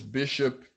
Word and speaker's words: Bixop: off my name is bishop fraud I don't know that's B I ex o P I spell it with the Portuguese in Portuguese yes the X has the SH o P and I speak Portuguese